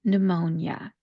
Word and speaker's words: pneumonia: When we pronounce this, like I said, we're going to drop the P sound. And for the first syllable, think of it like pronouncing the word new. N-E-W, when something is brand new. That's how we're going to pronounce that first syllable, new. The second syllable that we're going to pronounce is where we're going to put the stress of this word, and that is the M-O part, mo, mo.